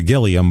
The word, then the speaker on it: Gilliam: It's pronounced, a lot of people pronounce it Gilliam. Oh, no. Which is how it was like pronounced in college. But then a lot of people, because it's spelled Gilliam. Like Armand. Yeah, they say Gilliam. So it's, over the years, it's just been kind of taken over to Gilliam, but it's supposed to be Gilliam. Do you think Armand had